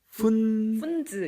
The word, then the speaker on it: Pfunds: 이름이 좀 발음이 좀 어렵잖아요. 이름이 그렇게 중요한 건 아니에요. 찾아보시면 돼요. 한국말로는 푼즈 이렇게.